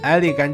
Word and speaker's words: Anglican: 其实这个名字源于安里干宗，英文读作 Anglican Church，它也被译作圣教会，是基督教新教的教派之一。